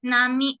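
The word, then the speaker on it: gnome: foreign foreign G एन ए आर एल वाई नामी नाली नाली म्हणजे चिडखोर जी एन ओ एम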